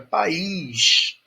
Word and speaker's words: país: Já a palavra país eu separo, porque ela tem duas sílabas.